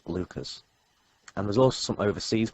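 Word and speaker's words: Leuchars: Heathrow Leeming and one in Scotland which is pronounced Lucas and there's also some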